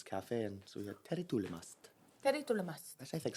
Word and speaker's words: Tere tulemast: Tere tulemast, which is how you say welcome in Estonian. How do you say it?